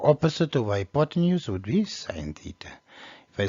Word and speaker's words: sin: So although there it's written sin, it's actually pronounced sine.